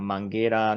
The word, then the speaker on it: Mangueira: Mangueira.